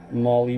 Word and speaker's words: Malle: again this is a brown molly Burl I believe that's how you pronounce it m o l l oh sorry Molly m a l l e and so I want